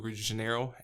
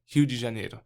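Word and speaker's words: Rio de Janeiro: state of Salo to Re Janeiro and uh uh let's let's pronounce correctly Hu Jane and uh moved there and uh and pastored that church pastored that church for a year.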